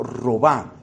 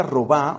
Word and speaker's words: Robin: mística francesa llamada marta apellido roba se escribe robin marta roba una mística francesa del